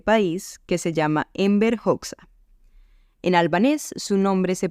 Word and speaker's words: Hoxha: importante de este país, que se llama Enver Hoxha. En albanés, su nombre se pronunciaría Enver Hoxha, pero se escribe Hoxha, Hoxha,